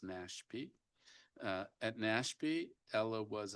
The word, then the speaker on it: NASHP: Ala joins the committee from the National Academy for State Health Policy or NASHP pronounced NASP.